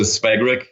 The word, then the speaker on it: Svagrik: I pronounce it Svagrik in English, but Gàbor is what,